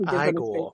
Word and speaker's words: Igor: No, it's pronounced Igor.